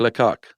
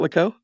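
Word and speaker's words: Lecoq: Jacqu Lak. Is that how it's pronounced? Yeah. You sure it's not Lau?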